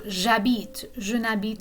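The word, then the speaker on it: j'habite: for both okay so jabit pa the h is silent so it's basically a vowel sound so when the verb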